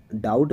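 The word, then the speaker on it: doubt: तो यानी इसका बी का उच्चारण इसमें नहीं आता है।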